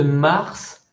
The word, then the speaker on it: mars: maisons soit loin exception le s de mars se prononce pourquoi parce que parce que parce que c'est une exception un ok donc on